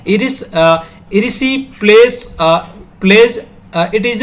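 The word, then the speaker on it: erysipelas: की पॉइंट की ओर मूव करते हैं iris रिसी place plays it इज a infection इसको क्या बोलते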